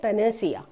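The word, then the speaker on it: panacea: इसका प्रोनाउंसिएशन क्या है? इसका प्रोनाउंसिएशन पेनेसिया।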